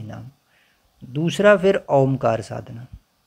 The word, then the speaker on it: ओम: ओ ये तरीका होता है जैसे पहले मुख को थोड़ा सा खोला और आ का उच्चारण किया। छोटा आ है। आ उच्चारण किया थोड़ी देर तक वो गूंजेगा। फिर थोड़ा मुंह बंद किया तो अपने आप उ बन जाएगा। और फिर बिल्कुल ओठ जब हम जोड़ देते हैं तब कंठ से म का ध्वनि आती है।